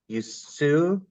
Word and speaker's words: Usui: Dawn's diverse background includes, I'm going to mispronounce this, Dawn, Usui? Usui.